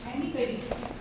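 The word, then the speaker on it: Amy Cuddy: Okay, तो एक social psychologist है जो रिसर्चर भी है, एमी कड़ी नाम है, यू can search on the YouTube, एमी कड़ी। Okay, so the spelling goes like this, AMY एंड कड़ी CUDDY, एमी कड़ी।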